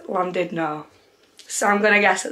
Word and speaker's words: Llandudno: I really don't know obviously it's Welsh so when Welsh people say it it actually sounds completely different but when I Googled it the translation or the pronunciation should I say was landed no so I'm gonna guess